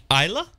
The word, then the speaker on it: Isla: I say Isla Fisher. Isla? It's Isla. Isla? Okay. Like Isla Nublar.